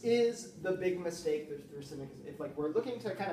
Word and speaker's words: Thrasymachus: Is it Thrasymachus?